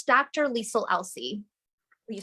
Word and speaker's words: Liesle Elsey: So my first name and last name are like a mirror of each other.